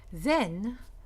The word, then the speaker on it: then: Then, actually take away the T, is a hen. So it's pronounced like hen, then, hen.